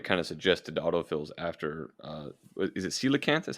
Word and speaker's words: coelacanth: And as I pulled this up on Google Images, one of the kind of suggested autofills after is it Coelacanth? Is how it's pronounced?